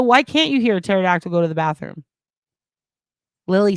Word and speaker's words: pterodactyl: Why can't you hear a pterodactyl go to the bathroom? Because the P is silent, says Lily.